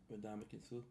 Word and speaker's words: Ndamukong Suh: Ndamukong Suh?